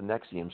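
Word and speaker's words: NXIVM: reminds me Peter a little bit of the nexium story we've talked about from time to time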